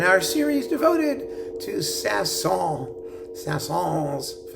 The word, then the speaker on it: Saint-Saëns: Saint-Saëns. Sometimes I pronounce the S, sometimes I don't, and I don't care, so leave me alone when it comes to that stuff.